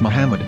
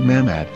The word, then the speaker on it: מחמד: vowels, it can be read as Muhammad, which is the name of the Muslim prophet, or as Mamad with no A after the H. According to Ben Yehuda's Hebrew English Dictionary, it is correctly pronounced as Muhammad, not Mamad.